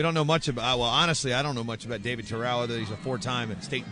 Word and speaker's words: Terao: Terao, excuse me, as I get corrected on my pronunciation, immediately ties it up and effectively takes the lead.